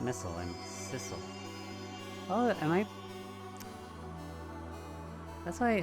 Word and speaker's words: Sissel: missile missile I'm sorry I'm not missile I'm Sissel oh am I that's why how I pronounce his name is at first it's Sizzle but I guess that's how it's uh and